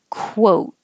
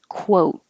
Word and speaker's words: quote: Your lips get small, a little bit bigger, and small again. Quote.